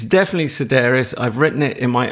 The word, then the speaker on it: Sedaris: other than to say that you got his name wrong it's Sedaris nice idea Rotter don't try and tempt Lee this was an affair discussion a pre-record discussion it's definitely Sedaris I've written it in my own phony tic